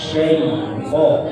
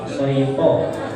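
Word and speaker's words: الشيطان: Ya, seharusnya bacanya itu A'udzu billahi minasy syaithan ya. Syaitan. Tadi yang terdengar syaitan.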